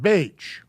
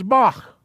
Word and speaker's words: Bach: it transliterated as ch it's actually a throat clearing sound like that do you know who this guy is his name's not beige his name is bach j.s this is called a